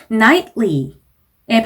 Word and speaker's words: nightly: nightly 라는 단어가 보이는데 nightly의 발음은 1번 지문에서 나왔던 fortunately 와 동일한 기술을 사용을 해주셔야 되죠. T랑 L 사이에서 한번 살짝 쉬는 느낌.